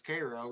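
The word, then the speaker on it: Karo: I mean, that's the syrup is Cairo, isn't it? But that's spelled C-A-R-O.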